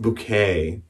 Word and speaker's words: Bucket: who her name is hyacint bucket but she pronounces her name she's hyacinth bouquet and hyacinth is a